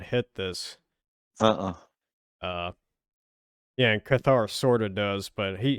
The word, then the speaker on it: Cathar: say his name brutal cathar or caither yeah but he doesn't yeah i say cathar but i think people some people say cather he does an exile